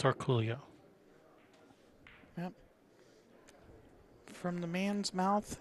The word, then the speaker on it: Orcollo: It's Orcullo. Cuz we we asked him we were at Derby and said, "Hey Dennis, how do you say your last name?" And he looked at us and said, "Orcullo."